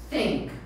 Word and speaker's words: think: Então, não quero ninguém ou falando think com think. F, think com D. Né? O sink com S. Sink é afundar. Sink é afundar. Né? Então a gente tem que pronunciar certinho. A gente fala think.